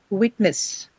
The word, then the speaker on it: witness: Witness, witness, witness. This is not, ness is not a suffix here. Okay.